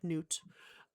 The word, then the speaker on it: Nut: It is spelled like nut. It's pronounced like noot.